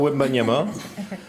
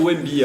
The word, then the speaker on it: Wembanyama: Victor Wembanyama, pour deux raisons. La première, parce que je m'étais promis de pouvoir prononcer Wembanyama. Donc je l'ai fait, ça a marché. Victor Wembanyama, 3 fois. On peut dire Wemby apparemment aussi.